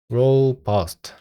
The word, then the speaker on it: robust: is more rob robust robust 이거 발음 어떡하죠 robust 예 맞네요가 아니라예요 그래서 뒤에 있는 걸 강 뒤에 있는 말에 강세를 붙여야 합니다 this appro is more